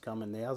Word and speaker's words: Carménère: kamen nehmen oder Kamener schreibt sich eigentlich die Rebsorte mit zwei Akzenten und Französisch ausgesprochen müsste es Kamener sein der Name kommt wohl